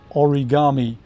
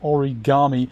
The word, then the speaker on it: origami: and they're all saying origami then i suppose they're saying all right four four syllables origami so they put the pronunciation on the second to last syllable how where would it